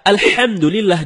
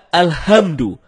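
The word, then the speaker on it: الحمد: ketika membaca alhamdulillahiabbil alamin Nah ada yang membaca alhamdu tidak menggunakan ha dalam kerongkongan kalau kita membaca alhamdulillah dengan ha dalam kerongkongan ya artinya segala puji bagi Allah nah sebaliknya kalau kita baca alhamdu alhamdu ha bukan tenggorokan maka artinya segala kematian jauh berbeda begitu juga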